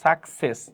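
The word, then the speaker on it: success: কি ই আছে রাইট তাহলে এই পরবর্তী সেকেন্ড সির উচ্চারণ কি হবে স তাহলে কি হবে আমাদের এই স হয় তাহলে কি সাকসেস সাকসেস সাকসেস এমন হবে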